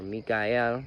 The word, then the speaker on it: Michael: channeled this through Archangel Michael um or Mikel as it's technically pronounced now Mikel said that